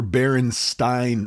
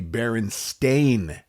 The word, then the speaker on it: Berenstain: Well, the truth is that their last name is actually Berenstain Bears, Stain, Berenstain Bears. It was never Berenstein or Berenstein Bears, ever, nor was it ever spelled Stein.